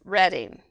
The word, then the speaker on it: Reading: Yeah, so local ways to say things, but so it's Reading, even though it's spelled Reading.